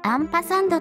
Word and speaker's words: アンパサンド: ますちなみに & 記号はアンパサンドと読みます and 演算子は